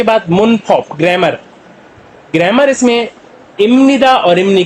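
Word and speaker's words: 입니다: ये इपनीदा बी अब नीचे नियम से टकराएगा, जैसे कि पीछे मैंने आपको बताया प्रोनाउंसिएशन रूल्स में कि ये मियम की साउंड देता है, इसलिए इसको बोलते हैं इमनीदा।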